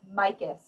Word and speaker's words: Mikus: And one of the curators met her daughter just about a month ago, and it's Mikus. So everyone's like trying to adjust how to say it.